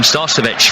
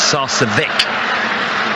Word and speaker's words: Sarcevic: I've always called him Starcevic for all the years, but I think our colleague on Manchester said it's Sarcevic.